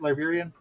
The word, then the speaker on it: Liberian: we're not yeah to Liberian uh Point am I saying that right Liberian yes sir I'm I'm I'm amazed